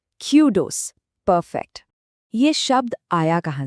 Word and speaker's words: kudos: जैसे कूल में ऊ होता है ना, वैसा साउंड। और दूसरा हिस्सा है डोज़। जैसे पॉट में ओ होता है और स्ट्रेस यानी जोर पहले हिस्से पर है क्यू पर।